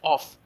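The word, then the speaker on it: oeuf: egg and just compost egg is known as of o e uf in french egg is known as off o e uf in french then we have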